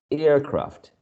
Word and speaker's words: aircraft: second one is craft so airfields aircraft the first element is the one stressed if you are if